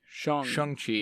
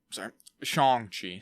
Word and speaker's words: Shang-Chi: So I think it's, because his name is Sean, they say it's very similar. So I think you kind of say it like that, right? Like Shang. Shang-Chi.